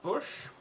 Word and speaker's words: Busch: about the bush family it's actually it's spelled um it's book it's bush it's german but the bush family